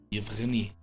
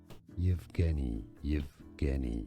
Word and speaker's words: Yevgeny: Yevgeny. Yevgeny is how it's said in Russian and so in English. Yevgeny. Stress on the second syllable.